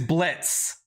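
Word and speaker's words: Blitzo: boss whose name is Blitz and it's spelled b-l-i-t-z-o the the O is silent it's like a running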